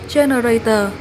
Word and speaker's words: generator: Mình xin đọc lại danh từ số 2 của cụm từ này là generator, nhấn âm 1.